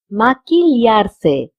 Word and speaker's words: maquillarse: Notice that QUI has been pronounced as ki because we do not pronounce QUI as qui. We pronounce it as ki. And double L is pronounced as lia and ya. If you're in Spain, you will say lia, and if you're in Latin America, in Mexico especially, you will say ya.